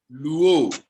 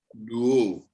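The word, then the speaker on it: λύω: You pronounce it as luo. All right? Yes, sir. Lambda is pronounced L, upsilon is pronounced U, omega is pronounced O, and together it becomes luo.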